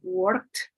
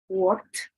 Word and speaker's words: worked: And then we say, often this creates problem with ed verb endings, meaning words like worked or loved may be pronounced work or love. And it's not the same. It's worked, loved.